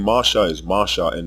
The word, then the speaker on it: Moshe: confusion as it stands his name must be pronounced Masha unless one is reading the pointed mastic text or following that tradition of pronunciation but what you are